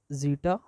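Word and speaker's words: zeta: जड करके दे दिया और अपर बाउंड पे जटा करके दे दिया इसे क्या बोलते हैं क्या प्रोनाउंस करते हैं जीटा जटी बात समझ में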